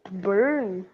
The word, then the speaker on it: Bern: Bern. Isso, a pronúncia soa mais ou menos assim mesmo, tá? Soa igual essa palavra aqui, ô Caio. Soa igual burn, né?